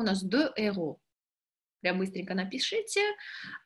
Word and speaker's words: héros: Обратите внимание, что слово «héros», там «de héros», нету сечения у «de». И я думаю, что вы знаете, почему. Почему? Можете написать 5 секунд, почему у нас «de héros».